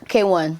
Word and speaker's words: KWN: Yeah, K1.